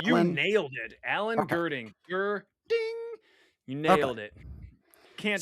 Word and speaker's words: Gerding: So, Hey, I pronounced the name right? oh, you Alan? nailed it, Alan Okay. Gerding.